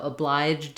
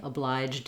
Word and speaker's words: obliged: starts with a vowel, you can kind of think of the D as going on to that vowel. So obliged in that way, obliged in. It's easier often to say the J and the D together with another word. So that's another technique to help you if that consonant cluster at the end is challenging for you.